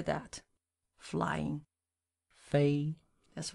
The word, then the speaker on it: 飞: Fei.